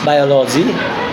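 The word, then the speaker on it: biology: Number 3, rule number 3 stress দেওয়া, যদি কোনো ওয়ার্ড LOGY দ্যাট মিনস লজি দ্বারা শেষ হয় তাহলে তার পূর্বের সিলেবলের উপর আমরা স্ট্রেস দেব। যেমন বায়োলজি, বায়োলজি, বায়োলজি, বায়োলজি, বায়োলজি, psychology, psychology, psychology.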